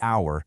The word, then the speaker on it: hour: We say the hour because the H is silent.